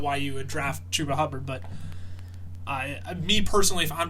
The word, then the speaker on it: Chuba Hubbard: Chuba Hubbard. Chuba Hubbard. See, I want to say Chuba Hubbard, but I know that's wrong. So Chuba Hubbard.